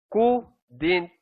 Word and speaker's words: couldn't: Couldn't have been. Couldn't have been. Okay? Silent L uli. Tapos yung D and T, didn't. Yung C-O-U, who. Couldn't have been.